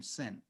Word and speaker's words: Sen: She says, Zen rhymes with our last name, Sen.